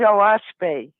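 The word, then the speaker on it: Oahspe: the of the fais it's spelled o a h s p and it's actually three syllables which stands for Earth sky and spirit o is Sky ah is Earth that's an alanin word sure and and spay is Spirit uh so it's the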